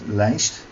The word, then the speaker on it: lijst: And now I create, and by the way this is pronounced lijst, and that will be 255 only.